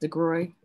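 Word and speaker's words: DeGruy: Joy, the one um I think it's pronounced Degroy, her last name, um with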